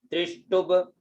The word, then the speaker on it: त्रिष्टुभ: ये आधा ब है, साथ में बोलना चाहिए, टू के साथ में बोले, ये है आधा ब है जो, तो त्रिष्टुभ।